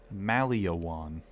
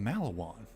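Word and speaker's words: Maliwan: You pronounce this Maliawan. It's fucking Malawan. There's no extra letter there. What are you doing?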